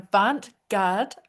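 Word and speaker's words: avant-garde: She's an avantgard. Is that how you pronounce it?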